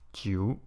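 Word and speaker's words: 九: And number 9, it's written as such, and it's pronounced as jiu.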